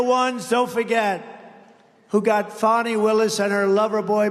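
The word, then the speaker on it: Fani: destroyed because of fonnie f a n i fny you have to pronounce it fonny it's called Fanny you have to pronounce Bonnie I don't know how she get she should add a little u in there someplace if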